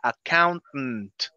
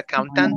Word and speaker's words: accountant: Ok, esta palabra esta palabra tiene un sonido medio raro. Se pronuncia accountant. No se pronuncia accountant, no. Es accountant.